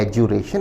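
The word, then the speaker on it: adjuration: जो लोग अच्छे प्रोनाउंसिएशन के शौकीन है वो ध्यान दें, इसे बोलते हैं एजुरेशन, इसको D को नहीं बोलना है।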